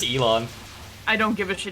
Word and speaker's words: Elon: you know komaeda and ellen musk um what i said it's elon i don't give it she doesn't deserve that like ellen degeneres yeah like i realized yesterday i've been pronouncing it wrong and i just kept